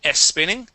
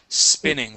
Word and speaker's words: spinning: spinning one more time so instead of saying s spinning okay focusing on that s so I watched Sebastian